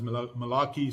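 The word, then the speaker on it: Malachi: side Hagai, Zachariah and Malakai um were basically written. Some people preferred to pronounce Malakai is Malaki so whichever way suits you.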